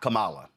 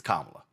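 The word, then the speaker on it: Kamala: First of all, um it's not Camala, it's Kamla. So maybe you ought to get the name right, pronounce the name properly.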